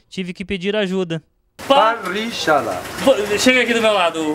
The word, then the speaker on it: parrillada: Da tradicional parrillada, nome difícil de pronunciar, tive que pedir ajuda. Parrillada. Chega aqui do meu lado, Juan Carlos. Me ensina a dizer parrillada.